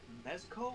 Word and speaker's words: Mezco: But I always pronounce this wrong. Are they called mezco or like?